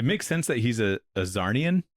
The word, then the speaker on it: Czarnian: that he's a Czarnian, because it's like a C and there's a Z in there, which is like kind of edgy, you know what I mean? Yeah. But then he's like silent letter is so edgy.